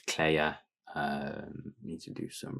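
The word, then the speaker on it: Kleie: um but yeah it's pronounced Claire um needs to do some research to get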